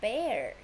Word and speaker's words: bear: It's a bear. Bear. E-A here, we pronounce A. B-air. Bear.